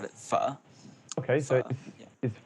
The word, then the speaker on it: Pho: So Zone has asked you, I'm assuming it's pronounced pho, Pho. Yeah, well, your favourite actually, in food. Vietnamese, you call it pho, like pho.